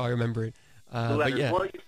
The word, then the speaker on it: Lueders: Lueders. Yeah. Well, just think of Lou like Lou.